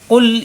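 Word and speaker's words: قل: কুল ইয়া আইয়ুহাল কাফিরুন। কুল জিহ্বার গোড়া থেকে উচ্চারণ করতে হবে, কুল যেন হয় না।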